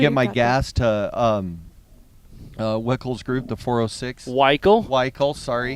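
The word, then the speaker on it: Wikle: I was calling it Helena, Montana, but Weichel is spelled W-I-K-L-E, I believe. So it looks like Wickle, and I've corrected myself on Helena and Weichel, but you still can't remember it.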